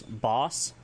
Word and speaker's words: bas: If you want to talk about herbivore, it's Bas, B-A-S, which is an animal herbivore, any which can be hunted and used for meal. A baby animal, Basika, B-A-S, Betten, I-K-A, Basika.